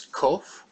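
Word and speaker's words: ק: the Letter's name is kof it's pronounced like a k c c and our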